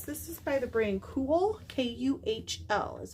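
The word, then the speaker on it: Kühl: is really nice this is by the brain cool k-u-h-l is how it's spelled in a large um to save time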